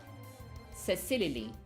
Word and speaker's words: Cecilily: So, my channel is actually pronounced Cecilily. So, So it's my name, Cecilia, but I wanted to make it cute, so it's kind of like Cecily, but it could be Cecily, like lily, like the flower.